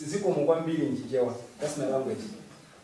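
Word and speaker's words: Zikomo kwambiri: It's Ziko Mugwambili in Chichewa. That's my language. So you can try to pronounce, it's the same as you pronounce.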